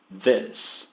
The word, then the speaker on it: this: This. Esse S tem um som de S e não de Z.